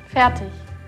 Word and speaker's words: fertig: How do you say it in German? Fertig. Fertig. Fertig? Fertig. Fertig. Like fatty. Okay.